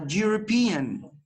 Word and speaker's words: European: the other example our European and European Oh teacher you start with a letter e no the rule here applies to pronunciation do you start this word with a consonants oh please your microphones